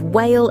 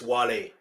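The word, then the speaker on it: Wale: This is the end before teaming up with Whale and Eminem for the Monster, another chart smashing. Uh, they mispronounced his name. It's Wall, by the way. It's Wle and he's Nigerian, just so you know.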